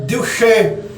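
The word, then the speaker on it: Juche: Porque a palavra Dilche começa com J, é J-U-C-H-E, pronuncia Dilche.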